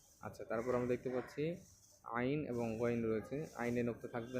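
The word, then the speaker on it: عين: আইন বলার সময় আপনারা গলার মাঝখানে হালকা পুশ করবেন। তাহলে আইনটা সুন্দর উচ্চারণ হবে।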